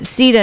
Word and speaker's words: Sida: So for people who are listening, that Sida is spelled S-I-D-A, but I'm thinking maybe it should be spelled S-E-E-D-A.